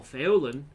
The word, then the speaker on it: Faolan: is based on welsh whereas fallon or feolin how it's supposed to be pronounced but i don't pronounce it that way it's theorem is the correct pronunciation uh that's irish so it's the same